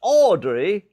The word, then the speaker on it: Audrey: The second speech was Audrey, that's the way you pronounce it, Christian, Audrey Ying Sing Lee Fat,